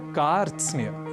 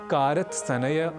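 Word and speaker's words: कार्त्स्न्य: में करते ही हैं पर उच्चारण की दृष्टि से यह शब्द है बहुत विशेष क्योंकि यहां र त स न य यह पांच व्यंजन वर्ण एक साथ संयुक्त स्वरूप में है इसलिए इस शब्द का उच्चारण हम सर्वथा शुद्ध करें इसका हमें विशेष प्रयास करना है और इसे कारत सनेय कारत स्ने आदि ना कहकर हमें कहना है कार स्ने तो यह साधारण संयुक्ताक्षर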